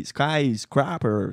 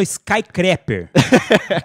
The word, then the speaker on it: skyscraper: Então eu falei skyscraper, sei lá, alguma coisa assim, e tava equivocado. Então, para corrigir o erro... Você falou Skycrapper.